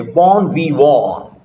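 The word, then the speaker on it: bon vivant: इसको पढ़ा के लिखा भी है, बॉर्न वी वॉन, बॉर्न वी वॉन, बॉर्न वी वॉन, pronounced something like बॉर्न वी वॉन, a muted nasal sound.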